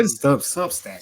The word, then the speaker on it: Substack: over at Subs I always subus I always mispronounce that name yeah just say substack substack Parker Fleming substack here we go uh